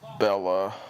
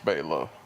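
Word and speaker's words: Bela: its big is that the whole pronunciation of Bella and Bella they all refer to him as Bella Lugosi and that's you know it was not how his name was pronouncing Beyla Lugosi how I hate this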